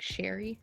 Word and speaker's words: Cherry: And then like their name, but her name seems to just be Shirley, which is spelled cherry, but they don't pronounce it that way. Like they pronounce it like Sherry, kind of.